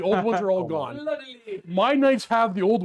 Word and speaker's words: fleur-de-lis: Fleur-de-Lis. Fleur-de-Lis. The Fleur-de-Lis. Fleur-de-lis. Fleur-de-Lis. Fleur-de-lis. It has the tray. So axes, Fleur-de-Lis, and a bunch of other things, but not the old ones are all gone. Fleur-de-lis.